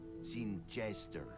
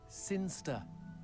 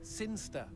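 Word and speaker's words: Cirencester: in the boring town of sin cheese there seen jester sinster what it's pronounced sinister how do you know my cousin's from sinster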